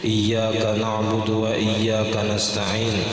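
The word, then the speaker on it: إياك: Katakhfifi iyyaka, seperti tidak membaca batasdid kalimat iyyaka, dibacanya iyyaka, misalnya ada iyyaka, kadang iyyaka. Nah aturannya batasdid ya-nya, dibacanya kada batasdid.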